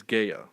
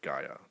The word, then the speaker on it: Gaia: The house represents Earth, and she is Gaia or Gaia, Gaia, however you want to pronounce it.